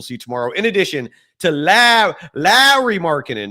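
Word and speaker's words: Lauri Markkanen: tomorrow, in addition to Lowry Markkanen, not Laurie, Mike Lowry from the Bad Boys movies? That's how you pronounce Lowry.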